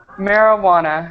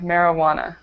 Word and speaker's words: marijuana: will decriminalize contemplating contemplating marijuana okay marijana marijuana marijuana J is silent yes the J is